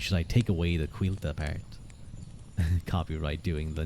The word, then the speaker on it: Cailte: l t is pronounced quila sort of like wheel but pronounced with a Q qu qu the emphasis